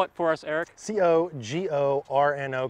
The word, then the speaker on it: Cogorno: C-O-G-O-R-N-O, Cogorno, like DiGiorno.